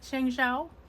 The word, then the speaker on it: Shengxiao: I think it's pronounced Shengzhao. Feel free to correct in the comments section if I've totally destroyed that.